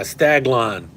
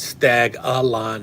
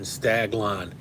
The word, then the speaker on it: Staglon: case I know yeah staglon not stag Alon staglon St a g l n thank you uh bdh thank you spider heill yeah staglon um by shade this